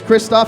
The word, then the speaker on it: Christophe: My name's Christophe. It rhymes with pissed off, so don't forget it.